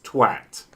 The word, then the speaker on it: twat: No, you say at. So it's twat.